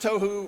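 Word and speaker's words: תהו: But he says that it's pronounced tohu, right, is chaos, wilderness, waste, confusion, a place of vanity or emptiness.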